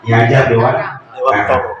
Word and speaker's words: Ki Hajar Dewantara: bahwa pendidikan kita Bapak Ki Hajar Dewantoro kalau dalam bahasa Jawa tapi kalau kita orang timur bacanya diajar dewan Jadi kalau ingat orang